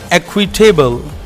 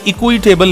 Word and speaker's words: equitable: Next word है just and एक्विटेबल। ये एक फ्रेज कह सकते हैं हम, जस्ट एंड एक्विटेबल। इसे इक्विटेबल नहीं कहना, एक्विटेबल, एक्विटेबल, एक्विटेबल।